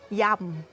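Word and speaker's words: yum: Et la salade épicée, le mot thaï, il s'appelle yam. D'accord? Yam. Y-U-M. On écrit comme ça, yam. Et on prononce yam.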